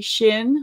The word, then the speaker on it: Shin: Shin, like your shin bone.